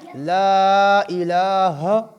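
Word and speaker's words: لا إله: جی، اول کلمہ طیب، لا الہ، لام کو لمبا کریں گے، لام کے بعد الف بھی ہے، اوپر مد بھی ہے، لہٰذا اس کو ہم کیا کریں گے؟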